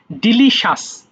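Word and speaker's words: delicious: ডিলিশিয়াস সুস্বাধু tasteless বিষাদ দেখো বাংলাটা লেখা আছে ভুল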